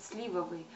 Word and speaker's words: сливовые: то же самое что нужно говорить сливовые ударение ставить на первый слог а почему я бы